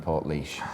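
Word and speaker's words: Portlaoise: Ireland um which are in goway Dublin and Port leash said that very well really well yeah um it's Lizzy's written that down phonetically for me hi Port leash hello Port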